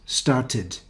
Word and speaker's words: started: is rule number one if the regular verb ends in the sound or d then the ending is id that's for example start becomes started invite becomes invited hate